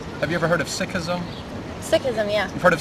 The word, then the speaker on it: Sikhism: It's actually pronounced Sikhism, but if you hear it in media...